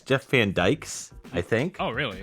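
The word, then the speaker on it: Van Dyck: I'm no stranger to I think it's Jeff Van Dyke's, I think. Oh, really? I know it's spelled D-Y-C-K, but I think it's pronounced Jeff Van Dyke.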